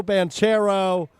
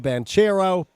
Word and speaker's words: Banchero: 22 was Paolo Banchero. Banchero, actually, I think is how you say that.